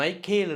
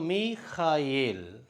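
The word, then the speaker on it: מיכאל: நம்ம ஆங்கிலத்தில் மைக்கேல் என்று சொல்கிறோம். ஆனால் சரியான உச்சரிப்பு மீகாயேல்.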